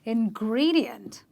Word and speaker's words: ingredient: All right then, words ending with IENT, you follow the same rule. You will stress on the syllable before the IENT, and you will say ingredient.